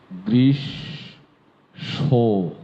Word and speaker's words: গ্রীষ্ম: কেউ কেউ তাই না গ্রীষ্ম কখনোই গ্রীষ্ম নয়। উচ্চারণটি হবে গ্রিস সো গৃষ সো শেষে সটা ন্যাচাল নাকে চলে যাবে।